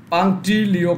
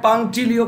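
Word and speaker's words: punctilio: I don't know but Tushar maybe right, একদমই অশ্বিনী, অশ্বিনী একদমই পাংটিলিও কথাটা হবে, ওকে? পাংটিলিও, তুষার ভালো অ্যান্সার দেয়, স্যার টি পারলাম এইটা পালো না, আচ্ছা আচ্ছা এটা হবে পাংটিলিও কথাটা, PUNC এর উচ্চারণটা হয় না, TILIO হবে, পাংটিলিও কথাটা হবে, ওকে?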